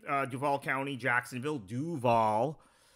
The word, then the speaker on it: Duval: residents of Broward right uh Duval County Jacksonville Duval not dval the people from other parts of the country pronounce it dval but Duval as we pronounce it down here um is